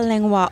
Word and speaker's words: Langlois: Langlois. Lisa Langlois. Did I say it right? Perfect. Lisa Langlois.